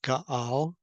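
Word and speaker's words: גאל: comes from the word Gimel Aleph Lamed, pronounced Gaal, as was pointed by the Masoretes, and it has very simple definition to defile.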